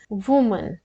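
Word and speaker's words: women: अब ये जब सिंगल महिला की बात करेंगे तो हम उससे प्रोनाउंस करेंगे वुमन, और जब प्लूरल है, महिलाएं हैं, तो प्रोनाउंस करेंगे वीमन।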